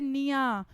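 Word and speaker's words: pnea: इसको हम कहते हैं निया। ठीक है? पी बच्चों इसका साइलेंट होता है। यह चीज ध्यान रखना।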